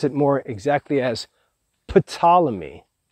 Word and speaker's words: Ptolemy: with a p it's p t o l e m y so you could pronounce it more exactly as ptolemy but normally it's spoken as simply ptolemy so ptolemy's all majest